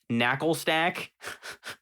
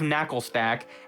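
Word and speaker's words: Naclstack: Knuckle stack. Like, that's not how you're supposed to. You don't just say NaCl like an actual word, but it's part of another word. So we have knuckle stack and garganackle.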